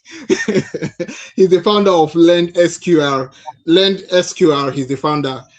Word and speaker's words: Lendsqr: Thank you for that question, but before I answer that, let me just help with pronunciation. The company is called Lend SQR.